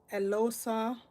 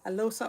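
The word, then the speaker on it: Eloghosa: It's Elosa, because I think the GH is silent. Elosa Oshunde.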